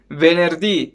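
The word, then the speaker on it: venerdì: with the last day we distressed on the last syllable venerdi friday well venerdi you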